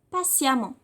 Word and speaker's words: patiemment: Par exemple, patient, patiemment. Mais ça se prononce A.